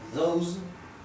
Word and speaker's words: those: Those, que significa esos o aquellos. Those. Fíjense que coloco una Z al final porque se pronuncia zumbado.